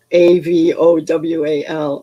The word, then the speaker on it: avowal: I have to pronounce it with a little bit of a Southern accent for it to sound like A-V-O-W-A-L, Avowal.